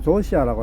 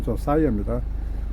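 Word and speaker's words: Josiah: 곧 그 조사이어가, 우리는 보통 조시아라고 하죠. 조사이어, 발음할 때 조사이어입니다.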